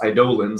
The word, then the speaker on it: Eidolons: And then eventually, Final Fantasy change it to Eidolons, which is pronounced Eidolons apparently, and they've got their own little lore.